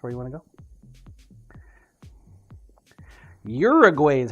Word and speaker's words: Uruguay: could cyber Imagine arell One Fernandez is open Uruguay that's where you want to go Uruguay is how it said fair enough fair enough